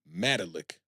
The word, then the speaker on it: Malik: not even a comparison and Mark says it's pronounced melik mik I think that's how the Mah would